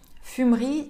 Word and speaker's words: fumerie: «Fumerie turque». Вот здесь как раз-таки буква «e» в середине читается бегло. Она как будто бы даже игнорируется.